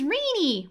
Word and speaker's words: Rini: rini says to hotoru my name's rini rhymes with teenie yeah i hate it